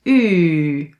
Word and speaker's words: uu: Put your lips like this as if you almost want to kill kill not kill kiss somebody. As if you almost want to kiss someone. Keep it a little bit open.